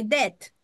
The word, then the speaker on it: debt: La B esta no se pronuncia, se pronuncia solamente la T al final, debt, para que no se confundan.